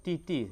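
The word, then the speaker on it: 弟弟: Jadi, adik laki-laki di di tulisannya dibaca titi ya.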